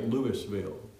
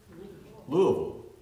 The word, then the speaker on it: Louisville: town if you say Louisville how do they pronounce it Louisville the S is silent but in Mississippi it's